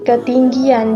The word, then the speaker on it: ketinggian: Di sini dituliskannya di dalam, biasanya katanya adalah ketinggian, namun kita membacanya dengan bunyi ketinggian, jadi seolah-olah ada huruf Y-nya.